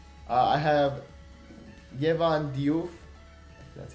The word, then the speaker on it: Diouf: I have Yehezkel, Diouf, that's how you say it, from Reims.